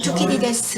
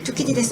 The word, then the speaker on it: Thucydides: 먼저 말씀드리고자 하는 것은 투키디데스 함정이라는 것입니다.